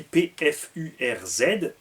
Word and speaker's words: Pfurz: Pfurz en alsacien, c'est un pet, s'écrit P-F-U-R-Z, se prononce Pfurz, parce que le U en allemand c'est OU.